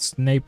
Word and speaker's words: Snape: Fun fact, Snape rhymes with rape, I'm just saying.